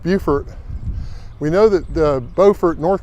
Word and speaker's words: Beaufort: I found out why Beaufort, South Carolina is pronounced Beaufort.